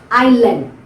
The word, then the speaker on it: island: can give you is island island where letter S is not pronounced so you try to